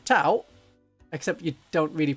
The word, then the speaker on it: Tau: Because it's T-ow. It's always been said by a Yorkshire person. Tau.